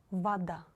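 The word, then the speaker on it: вода: pronounced like ah foreign Voda if the letter O is not stressed you should read it like ah Vada Vada let's read some other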